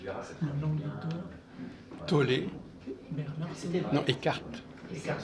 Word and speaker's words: Tolle: On met avec accent aigu, mais en allemand, c'est plus. Tolle. En allemand, ça serait Tolle.